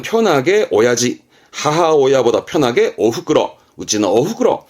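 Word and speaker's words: 親父: 이때 발음 바뀝니다. 이때는 오야지.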